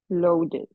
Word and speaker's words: loaded: Loaded. Loaded. ¿Qué hacemos aquí? Loaded. Agrega una N, una sílaba adicional.